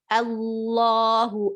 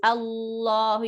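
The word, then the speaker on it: الله: allah allah but so try to think of it as arabic not as english translation also do not study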